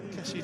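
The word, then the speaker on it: Kessié: I know some people think it should be Kessier, but he himself said Kessie. So that's what we go with, folks.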